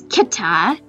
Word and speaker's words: Kita: Let's go with Kita, which has like a hard C sound in its name, so it's Kita, which is kind of similar to kitten, to be honest.